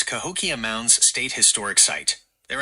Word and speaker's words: Cahokia: things and we took a look at the Kalkia Caves in freaking Illinois. I keep getting that pronunciation wrong. What's the right pronunciation, Gemini? You're close. It's Cahokia Mounds State Historic Site.